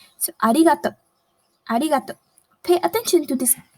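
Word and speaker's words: ありがとう: So arigato, arigato. Pay attention to this ri. It is somewhere between the English alphabet R and D. Ri, ri. Arigato, arigato.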